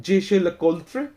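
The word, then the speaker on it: Jaeger-LeCoultre: इट्स अ bit difficult कुछ लोग इसको ऐसे प्रोनाउंस करते हैं जेशल कोल् फे तो जे जेएलसी ने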